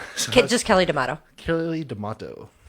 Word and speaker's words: D'Amato: Kelly D'Amato. Like tomato? Yeah, I would prefer D'Amato, but yes, it rhymes with tomato.